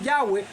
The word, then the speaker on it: Yahweh: lexicógrafos y eruditos modernos favorecen la pronunciación yagüe como la más exacta qué razones tendrán algunos